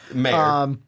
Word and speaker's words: Mayer: I don't know how to pronounce it. It's Mayer, because it's Meyer.